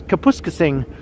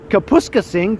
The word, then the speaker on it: Kapuskasing: weather up north, and he pronounced Kapuskasing as Kapuskasing. I laughed out loud when he did that. I was like, Kapuskasing? Come on now. That was a very Torontonian way to pronounce it.